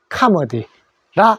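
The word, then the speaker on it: comedy: 자, 그래서 코미디는 카머디라 하더라.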